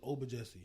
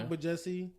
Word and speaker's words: Ogbajesi: It's not, so my last name is Obajesi. Mm-hmm. You know, it's spelled with a G, so the G is silent.